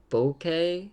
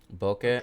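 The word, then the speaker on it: Bokeh: the whole world's - you can do bouquet it's how you say it bouquet I don't know what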